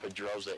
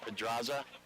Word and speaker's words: Pedraza: saying that name wrong it's not Pedro it's Pedraza R Pedraza that's right all